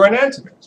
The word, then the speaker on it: enantiomer: How do you say that word? Enantiomer. It is. I don't really pronounce it. It's like stoichiometry. I always just say stoichiometry, enantiomer. That's how you actually have to say it.